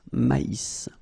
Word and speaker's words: maïs: So here you get this tréma, so maïs, maïs. And then you pronounce the final S, maïs.